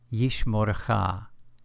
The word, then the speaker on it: Yishmorcha: Yishmorcha, Yishmorcha. Please notice that in the second syllable of this word, we find a kametz hatuf, pronounced O.